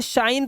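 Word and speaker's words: shine: आपको पता है ना इसी तरह से आपको इसे शाइन पढ़ना है शिने नहीं पढ़ना है इसे बिके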